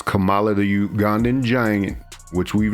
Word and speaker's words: Kamala: WWF from the WWE as Camala that is how that name was pronounced it's only now that we've gotten the name Kamala so forgive people for